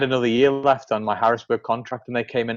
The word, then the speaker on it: Harrisburg: So moving on from, apologies, my pronunciation isn't right. Harrisbury. Harrisburg, sorry.